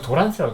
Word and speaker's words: 도란스: 이렇게 네모나게 해가지고 110V 이렇게 되짚고 있었던 그거 도란스라고 해요. 도란스. 이 도란스가 이 트랜스포머의 일본식 발음인데 그 트랜스포머를 얘기하는 거예요.